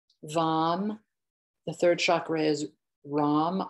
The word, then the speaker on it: ram: So lam, vam, the third chakra is ram, R-A-M, rong, rong. So it's just the sound of R.